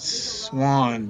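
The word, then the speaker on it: Xuan: guide standing there explaining things his name is pronounced Swan but it's xua n and uh he FW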